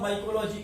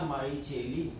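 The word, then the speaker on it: Micheli: Spelling लिखना माइचेली, ठीक है, पढ़ना लेकिन माइकेली।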